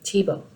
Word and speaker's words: Thiebaud: on the art of wayne tebow and that's how you say his name tebow and he's an american